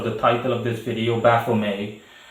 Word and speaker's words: Baphomet: title of this video baffle me or baffle met the t is generally speaking silence so i'm going to stick with bafflemaid uh i'm used to pronouncing it more flat buffomet um so in any